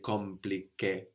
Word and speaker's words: compliqué: We don't say compliqué, no? The M is kind of swallowed into the vowel before.